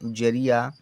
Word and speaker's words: जरिया: Next है JARI पढ़ेंगे जरिया। जे से जालिया, ए साइलेंट रहेगा। आर से रा, आई से छोटी की मात्रा ली, बाई से या लिया और ए का मतलब बड़े या की मात्रा।